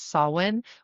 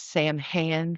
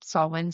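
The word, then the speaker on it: Samhain: Like, the one that you'll hear the most mispronounced is sawin, which is Sam Han for Americans. Um, and that's Halloween for us. um saw win.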